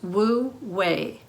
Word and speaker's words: Wu Wei: One of the fundamental tenets of Taoism is Wu Wei. Now this is spelled W-E.